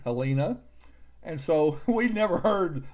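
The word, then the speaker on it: Helena: makes it a long a Halina Montana because it's got one L that makes it a long e alena and so we never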